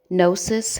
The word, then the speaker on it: gnosis: the Gnostic belief and gnosis has two syllables no and says no